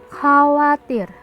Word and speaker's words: chawatir: Contoh, pada ejaan CHAWATIR dibaca khawatir.